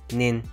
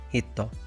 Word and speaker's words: 人: Today's kanji is the kanji for person, pronounced jin, nin, hito.